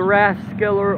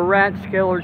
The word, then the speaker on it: Rathskeller: you the exterior The Rathskeller or ratskeller staff I've heard both pronunciations I think I first heard as ratskeller so I tell I